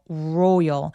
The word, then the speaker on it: royal: 그래서 하면 안 되고 royal royal 알바음은 뒤로 혀를 당겨서 row 앞에 우가 있는 것처럼 발음하시면 정확하게 소리 내실 수 있다.